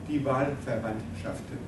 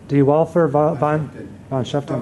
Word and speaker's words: Die Wahlverwandtschaften: Die Wahlverwandtschaften. Die Wahlverwandtschaften.